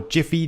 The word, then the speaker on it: Giphy: to get mine from giphy or jiffy depending on your preferred pronunciation calm and I'd recommend